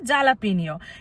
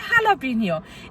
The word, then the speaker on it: jalapeño: এখানে এক ধরনের লঙ্কা পাওয়া যায় যেটাকে বলে জালাপিনিও, কিন্তু এখানকার উচ্চারণে এরা বলে হালাপিনিও।